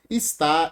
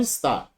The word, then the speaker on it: está: A palavra está. Qual é a sílaba tônica dela? O que é oxítono? É quando a sílaba tônica recai na última. Então, está. Tá aqui, ó, está oxítona.